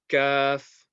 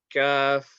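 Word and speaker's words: ك: So this one is kaf, kaf. Now it's similar to the letter K, not exactly the same, but it's very, very similar to the letter K.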